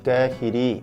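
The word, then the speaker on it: قاهري: 카이로, 알까히라 같은 경우도 타마르부따로 끝나는데, 카이로의 라고 표현하고 싶으면 타마르부따를 떼고 야를 붙여서 까히리 이렇게 표현을 합니다.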